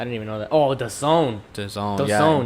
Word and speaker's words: DAZN: All right, it's DAZN. It's pronounced the Zone though.